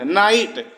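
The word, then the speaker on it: knight: knock में के silent नाइट के एन आई जी एच टी नाइट में के साइलेंट नॉलेज के एन ओ डब्लू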